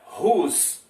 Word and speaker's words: whose: Nós temos a palavra agora whose. Também não pronuncia o W, né? Whose, né?